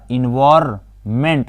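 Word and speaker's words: environment: ENVI तो ENVIR, इन्वायरमेंट में N होता है, यहाँ पर इन्वायरमेंट होता है, N यहाँ पर साइलेंट है लेकिन इसको लिखा जाता है इन्वायरमेंट, ओके।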